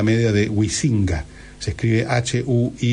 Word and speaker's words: Huizinga: Se escribe Huizinga, Huizinga.